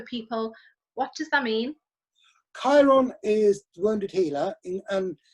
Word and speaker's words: Chiron: Chiron.